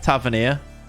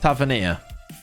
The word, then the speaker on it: Tavernier: You said it right first. Tavernier. Yeah, that makes more sense.